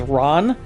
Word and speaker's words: Ran: for a mainstream audience is Ron which is spelled like ran R an because it's one of